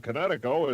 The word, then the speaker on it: Kinetico: You should have remembered kinetic as in kinetic energy with an O on the end.